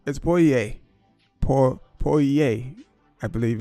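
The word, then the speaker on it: pollo: So basically, I'm in the butcher and I'm saying, I want like polo. And I'm like, polo. And they're like, what? And then eventually I got to pointing like that. And it's poye.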